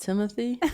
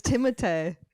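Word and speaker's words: Timothée: Wait, what is his name not pronounced Timothy? No, it's Timotee. Yeah, no one wants that. Well, no one wants that. Maybe, but it's there's other cultures in the world like No, it's a French name.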